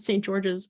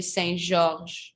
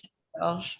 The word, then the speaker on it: St-Georges: Like I just choose that because in French we say Saint Georges and it doesn't have an S sound at the end. It's just Saint Georges.